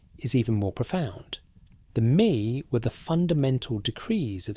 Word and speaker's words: Me: The brilliance of Enki lies in his role as the god of Me, pronounced as Me.